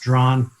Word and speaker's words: Draughon: It looks like dragon or something, but it's just pronounced Drawn.